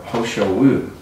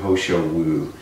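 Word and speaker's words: He Shou Wu: And so this one is a youth and longevity herb, Ho Shou Wu. It's funny, it's spelled H-E, but it sounds like it should be H-O. It can be either way.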